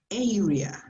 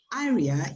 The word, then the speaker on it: area: okay remember the word this word is pronounced area yeah because if you say aria you mean this and that is part